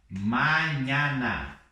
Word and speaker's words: mañana: Então não vou ler assim, mañana, para amanhã ou para amanhã. Eu vou ler mañana. Bem aberto lá.